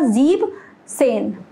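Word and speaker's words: siebzehn: हूँ, ये एक्सेप्शन है, तो क्या प्रोनंसिएशन है इसका, जीब सेन, जीब सेन, स्पेलिंग इसमें से ई एन हट जाता है, ये एक्सेप्शन है।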